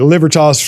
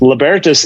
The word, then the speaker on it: libertas: intro because i'm saying libertas i've called it livertos for years you know everyone says that no